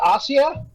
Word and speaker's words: Asia: Argento is Dario argento's daughter and uh that's pronounced Asia yeah well I've been doing that wrong all